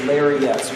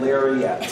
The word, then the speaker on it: Larriett: rhymes with Safari. We're just talking about Safari in Africa. The last name is larette.